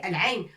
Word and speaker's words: العين: وحين نريد أن نتحدث عن الحرف نقول quand on veut parler de la lettre عين on dit العين on dit pas عو ع ع non on